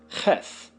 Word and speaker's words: Cheth: Cheth, CH and H as in help, value 8, is pronounced cheth.